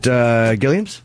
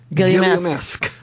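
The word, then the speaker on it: Gilliamesque: Is it Gilliam's? Nope. Gilliam-esque. Gilliam-esque. Oh, you know what?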